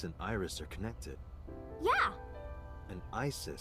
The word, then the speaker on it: Isis: Iris are connected yeah Isis sounded like Asad in ancient Egyptian which is where your